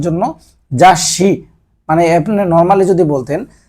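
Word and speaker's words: ざっし: আপনি এর জন্য সামনে একটা এইস ব্যবহার করবেন মানে ডাবল উচ্চারণের জন্য জাসি মানে আপনি নরমালি যদি বলতেন আপনার যদি এই ছোটা না থাকতো তাসি আর ছুটা থাকার কারণে জাসি মানে ম্যাগাজিন তারপরে যাইশিনগুন সিনগুন মানে হচ্ছে সংবাদপত্র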